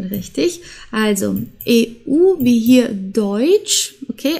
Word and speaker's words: Deutsch: also EU wie hier deutsch okay also wir sprechen das nicht aus wie Deut oder so sondern Deutsch das ist das gehört